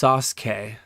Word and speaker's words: Sasuke: It's pronounced Sasuke.